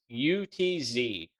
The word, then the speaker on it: Utz: pronunciation of this uh it is utz it's us man it's utts yeah if anybody's from the northeast you know that it's us okay yeah so those